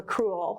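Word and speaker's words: crewel: another one cruel work it's spelled c-r-e-c-r-e-w-e-l for cruel but there's something cruel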